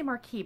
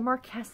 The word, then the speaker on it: Marquis: it Marquess mark Marky I want to say Marky but I'm pretty sure that's the thing in a movie theater the Marquess and I I believe